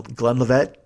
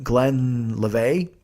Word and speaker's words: Glenlivet: brought a bottle of Glen Glen LaVette is that how you pronounce it Glen LaVette Glen live Glenlivet Scotch that bottle got killed and then let